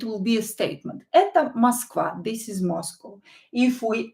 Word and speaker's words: Москва: Это Москва. Это Москва. Москва. Это Москва. Is this Moscow? Это Москва. Это Москва. So O is not stressed. We will pronounce it as A.